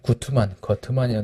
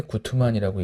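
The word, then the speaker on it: Guttmann: 이제 거트만이라고 되는데 구트만이라고 읽죠. 구트만은 근대 스포츠의 특성을 이렇게 수량, 합리, 전문, 관료, 세속, 평등, 기록의 특징으로 얘기를 했어요.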